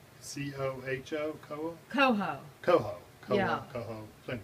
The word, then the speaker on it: Coho: Koa? I think it's Koa or something like that. C-O-H-O? Koa? Coho. Coho. Yeah. Coho.